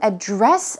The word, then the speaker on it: address: but you can also address someone or address something in that case the stress goes on the second syllable and it can be